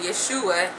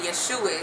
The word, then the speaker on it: Yeshua: to J okay and the fourth sound you will hear in the name Yeshua is the oo sound and you know when you know in English our our you can have different sounds to it so it's supposed to be the O like the o you were hearing the word true or blue but instead we get